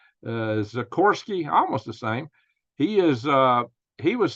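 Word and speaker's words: Sikorski: Radek Zirkorski. No, it's not. It's almost like the helicopter, but it's not the helicopter name. It's Zikorsky, almost the same.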